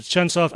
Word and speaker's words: Chunsoft: I think some people might pronounce it Chunsoft. It looks like the official pronunciation is Chunsoft.